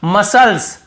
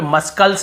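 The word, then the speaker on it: muscles: यहां पर भी देखिए मसल्स मसल्स मसल्स यहां पे मसकल्स नहीं पढ़ रहे यहां पर भी सी साइलेंट है।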